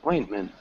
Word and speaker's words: ointment: Ointment. One small thing is this T is almost a swallowed T, so we don't really pronounce it. It's ointment.